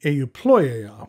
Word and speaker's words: Euploea: the pen lux delgado and this is the euployea which is spelt e u p l o e a